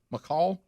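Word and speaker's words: McCaul: from texas uh michael is it mccall how you say his name c-a-u-l mccall um and uh he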